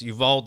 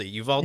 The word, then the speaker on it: Uvalde: of uh the uh you how do you pronounce it that place in texas it's uvalde uvalde texas the school shooting the elementary school what